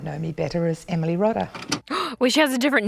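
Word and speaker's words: Rodda: fantasy book series by the Australian author Emily Rada or Rhoda Rada you know what let's look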